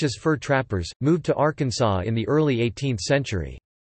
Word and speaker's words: Arkansas: It should be pronounced in three syllables, with the final S silent, the A in each